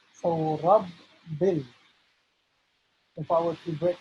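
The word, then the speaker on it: ربِّ: So the reason why there are 2 letter B's here is because the objective, the goal is to pronounce the letter B twice, right? As if it's bouncing, right? So Rabbil.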